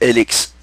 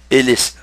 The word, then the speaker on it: HELX: Et sur son logo, c'est un logo noir, il est écrit H-E-L-X. Et quand on le prononce, ça fait LX. Ou, si vous voulez, Hélice. Hélice.